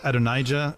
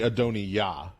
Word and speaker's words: Adonijah: Ado Adonijah. I don't know. Adonija is the usual English. It's actually Adoni Ya.